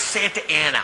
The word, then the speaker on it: Santa Ana: How? It's Santa Ana. What says Santa Ana? Look, I know I didn't finish school, but that frickin' says Sa-na-ta-a-na. Dumbass. I will never blink. They pronounce it Santa Ana. Well, they're wrong!